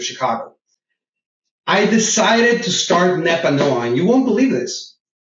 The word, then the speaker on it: Nepanoa: And Andy, you did a great job pronouncing it. Nepanoa is a word in Nahuatl.